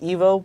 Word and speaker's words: Ivo: I believe it's pronounced Evo, but Evo.